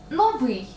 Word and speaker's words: новий: тій пісні олені олені так все-таки вони олень новий наголосна и так само будуть наголошуватися подібні прикмети новий